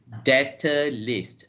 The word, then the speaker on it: debtor: Yes, the It's B a is silent. silent B then. Yes, it is a silent B.